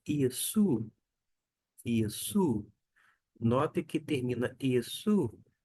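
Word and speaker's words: Ἰησοῦ: A gente não fala no grego Jesus, e sim Iesu. Iesu, Jesus.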